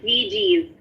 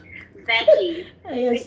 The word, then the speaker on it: veggies: You said VGs. Oh, oh no. Veggies, vegetables, Bisaya. Veggies. You can do better. You can do better than that.